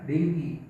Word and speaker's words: dengue: Dan yang kata ketiga adalah denggi, tulisannya dengue ya, bacanya denggi.